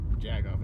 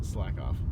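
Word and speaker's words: Slakoth: you're saying jackoff uh it's not jagoff it's it's slack off so um it's like off with the th at the end of it because they just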